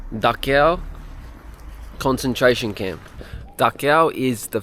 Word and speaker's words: Dachau: go to the daow I think it's pronounced daow concentration camp daow is